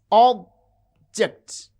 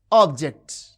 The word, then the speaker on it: object: Consider a word like object. You can see object. object. The first syllable has prominence. It has extra force and full wall quality and jut this is unstressed.